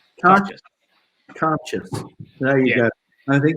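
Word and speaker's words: Cairdeas: And I've always called it Cargis, but what's the exact pronunciation? Can you remind me again? Edis. So the pronunciation is Carchis. Carchis.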